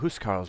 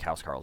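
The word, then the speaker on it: huscarls: I should probably that I know it's pronounced more like house Carls and I keep screwing it up we need cargo to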